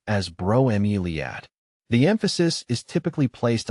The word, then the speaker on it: bromeliad: Bromeiliad is pronounced as broilad.